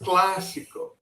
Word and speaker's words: clásico: That basically tells you which letter you have to pronounce more. So it's clásico.